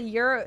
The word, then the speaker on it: gyro: seen him in chat it's pronounced Euro yeah that's what I said look okay guys if you're not Greek you don't get to speak okay how